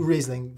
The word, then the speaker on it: Riesling: Riesling, is that how you pronounce it, not reasoning? Riesling, yeah, depending where you where you are.